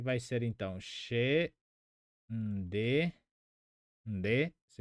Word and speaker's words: nde: Pronomes pessoais, que vai ser então she, nde, nde, se pronuncia assim.